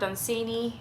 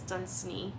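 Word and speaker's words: Dunsany: Turns out that the American pronunciation is Dunini and then the the UK British version is Danseni because sometimes people correct you and I have heard people mention it both ways.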